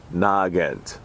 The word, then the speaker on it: Nagant: Nagant Nagant that's how people want me to pronounce it Nagant I will try that I'm I'm used to saying nant I apologize if I say that I'm going to try and say Noggin but they got together they designed this rle